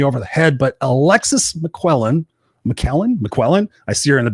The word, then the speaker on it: McQuillen: I can't remember now, but it's McQuillen. You have it. You got it. McQuillen.